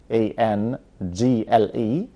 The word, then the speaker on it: angle: بره يعني في الاخر, A N G L E. angel معنى زاوية, لكن angel اللي معانا بمعنى ملاك. خدوا بالكم من الفرق في النطق. an angel دي angel ملاك, لكن هنغيرها ب angle اللي هي A N